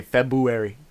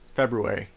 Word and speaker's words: February: he's saying it right most people say february february yeah it's got an r in it yeah extra r it's got two r's robbery february because i